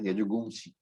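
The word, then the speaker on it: यजूंषि: Yajumshi is Yajur Veda. Somewhere you will find the pronunciation as Yajugumshi. Anyway, it's the same thing.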